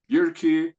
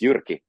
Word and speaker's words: Jyrki: you you could say it's it's Yuri, like you said. Thank you. I'm glad glad to be here. Thank you so much. In fact, Yuri is a a great name.